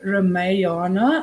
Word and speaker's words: Ramayana: This story is an example from the epic talk, the Ramayana, I think is how you pronounce it, with origins in India, known in Khmer as the Rimker.